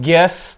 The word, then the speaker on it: Geass: Ya, Code Geass .2 Rose of Code the Geass Recapture. atau Code Geass? Ya, Code Geass. Geass deh. Geass. Code Geass. Enggak, Rose of anu, the Recapture. Pelafalan di anime sih Geass.